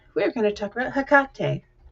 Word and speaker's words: Hekate: And today we're going to talk about Hakate. Some people say it hat, which I just don't uh but hakate.